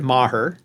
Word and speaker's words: Maher: I pronounce it Maher. Maher, got it. Okay. Yes, that's correct.